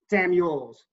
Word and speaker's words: Samuels: Samuels.